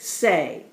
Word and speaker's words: say: You can't hear that Y sound at the end of it, but this is the word say.